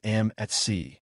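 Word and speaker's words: Mac.Bid: In truth, the correct way to pronounce the name is MCAT, which stands for merchandise at cost.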